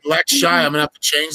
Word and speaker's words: Lakshay: Am I pronouncing that right? Lakshay.